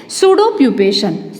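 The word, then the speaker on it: pseudopupation: And pupa, it is from pupa, ये pupa से कौन सा स्टेज में जाता है, सूडो प्यूपेशन, ठीक है, यहाँ पे पी साइलेंट है, सूडो प्यूपेशन, ठीक है, सूडो प्यूपेशन स्टेज किस में जाता है, from that सूडो प्यूपेशन इट में गेट मोल्ड।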